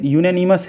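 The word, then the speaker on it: unanimous: देखिए यूनानिमस है ये, यहाँ पर भी जिस तरह यूनिवर्सिटी का जो निकलता है प्रोनाउंसिएशन कॉन्सोनेंट का, उसी तरह इसका भी प्रोनाउंसिएशन जो है वो कॉन्सोनेंट का आया है, तो इसलिए सिंपल इसका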